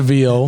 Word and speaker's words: viol: What is a viol?